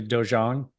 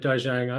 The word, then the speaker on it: dojang: right the doang uh I'm not entirely sure because I think it's a Korean I'm pretty sure it's a Korean uh word so uh you know like you have dojo for karate training Halls so I'm not sure what the correct pronunciation is it could be it could be how you say it Mike it could be doang um I guess we used to call it dojang it's based um the